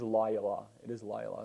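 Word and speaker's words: לילה: echad you know what that's a long syllable so it is lyla it's an audible shawn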